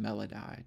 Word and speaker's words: melody: That third line, melody, would be pronounced melodi to rhyme with psi.